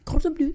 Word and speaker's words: Cordon Bleu: How do you say it in French? Cordon Bleu, c'est ça.